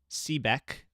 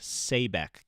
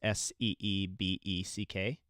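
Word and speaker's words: Seebeck: Because the guy that invented this siren, uh, CBEC, but my dad tells me it's pronounced Sebeck because it's s ebe ck.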